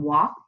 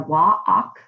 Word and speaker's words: walk: like the all can walk the walk och the L is not pronounced but in words like